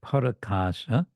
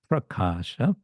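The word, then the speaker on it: prakāśa: And the word parakasha is another stretched word. The word is prakasha, but it becomes parakasha to add another syllable.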